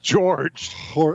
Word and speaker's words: Jorge: Could you say his name right? Jorge. Which is George. His name is not Jorge.